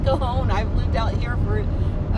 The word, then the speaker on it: Cajon: go down the kahone pass and yes it's pronounced kahone I've lived out here for what 40 something years and it's like well there's a j in it and it's like it's Cajun and it's like all right let's get ready